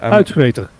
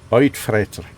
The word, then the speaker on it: Uitvreter: How should I pronounce it? Uitvreter. Uitvreter. Okay. Something like that.